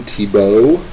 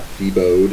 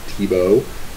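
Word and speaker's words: Thiebaud: but in a more lihe hearted manner Wayne tibo that's how you pronounced that last name it's not feo it's tibo make this work pies pies pies now tibo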